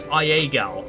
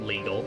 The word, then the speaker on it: Iagal: Oh, it's Iagal. It's not legal. It's just spelt with a uppercase I.